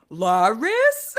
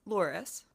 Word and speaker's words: Loris: It's pronounced Loris. It's not Lori.